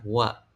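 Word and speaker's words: は: Ini kan seharusnya kalau ee di huruf biasa ini dibacanya H. Tapi karena ini adalah partikel, jadi dibacanya wa, Teman-teman. Oke. Jadi H itu dibaca WA.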